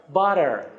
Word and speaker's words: butter: Butter دو تا تی دابل تی. اگه بین دو تا حرف صدادار بیان در تلفظ امریکایی یا American pronunciation آر محزون تلفظ میشه یا به عبارتی dark آر. dark یعنی تیره. dark آر. آر تیره. آر محزون. یعنی چی؟ butter. butter. نمیتونی بگی butter.